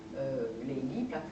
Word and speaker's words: Leili: C'est une aberration, parce que c'est pas Leïla. Nizami prononce absolument Leili.